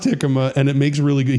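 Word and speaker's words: jícama: but from someone else that it is the hikma you're supposed to pronounce the J as as a h so it's a hikma now how do how did I know about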